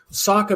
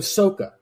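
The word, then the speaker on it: Sokka: the translation on Nickelodeon so he did the quote unquote proper pronunciations so Ang become Saka became sooka and I'm like I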